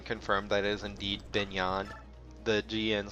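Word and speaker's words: Begnion: country's name a few times some people have pronounced it beg neon beg neon pinyon and then the the narrator from radiant dawn confirmed that it is indeed been yon the GaN sound mixes together like the GN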